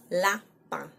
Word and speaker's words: lapin: So on voit les lapins, rabbit. On voit les lapins, that's a nasal sound at the end of lapin.